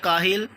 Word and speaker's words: کاہل: تو پہلا لفظ ہے کاہل، کاف کے اوپر زبر آئے گی اور ہا کے نیچے زیر، لام پر جزم، کاہل پڑھیں گے۔ کنواں، عزیز طلبہ دوسرا